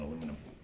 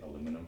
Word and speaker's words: aluminum: is okay and then I went and did too many syllables on aluminum don't say it like that but then I say it myself and it doesn't sound good so I always say aluminum because you know I